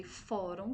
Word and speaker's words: fórum: assento primeira palavra fórum eu já percebi quando eu pronunciei fórum que ela é paroxítona esse quadro só vai